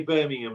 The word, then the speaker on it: Birmingham: say Alabama, Birmingham. yeah. Mhm. So they say, say Birmingham like an American. Like In- an like an American. Birmingham. Birmingham. Birmingham. Yeah, we say, Birmingham.